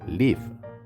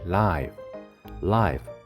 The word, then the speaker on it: live: 동사는 짧게 live. 형용사라이는 길게 live.